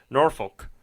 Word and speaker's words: Norfolk: Those that weren't born in the area will pronounce it Norfolk.